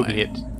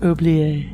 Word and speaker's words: oubliette: Unless you're in France, and then it's Oubliette. I looked this up. I thought, have we been mispronouncing it the whole episode? But the American pronunciation is oubliette.